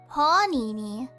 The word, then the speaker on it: panini: Panini. Emphasis on the A.